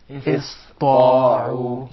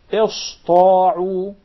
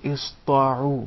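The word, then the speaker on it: اسطاعوا: the letter Sin, and instead they would pronounce it as Sad, because it suits more the Ta.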